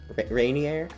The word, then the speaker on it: Ranier: Rainier. It's spelled R-A-N-I-E-R, so it's not spelled like rain.